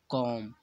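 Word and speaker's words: comb: का दूसरा उदाहरण है कॉम तो यहां पर एम के बाद भी है तो बीवी को नहीं पढ़ा जाएगा क्योंकि यहां पर भी साइलेंट है यह देखिए इसका दूसरा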